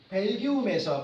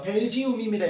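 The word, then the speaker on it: Belgium: 다른 적절한 타이틀은 무엇인가 로또는 벨기움에서 벨지움입니다 영어 발음 벨지움에서 어떻게 사용되었는가 벨기에서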